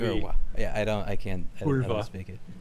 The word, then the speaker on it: kurwa: I just read it and I You pronounce the V the W as a V. Kurwa.